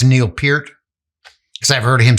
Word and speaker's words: Peart: I know it's Neil Peart because I've heard him say that before.